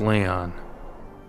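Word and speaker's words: Lyon: Man Behind this is it's spelled with a Y ion that's Leon Le Leon Leon the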